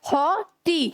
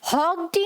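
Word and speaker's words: haughty: इसमें ये, इसे हम हॉग टी नहीं बोलते, इसे हम बोलते हैं हॉटी, जैसे HAU एक साथ एंड TY एक साथ, ठीक है। तो क्या हो गया? हॉटी। हॉग टी नहीं होता। फाइन, G एंड H दोनों ही साइलेंट हैं, ठीक है।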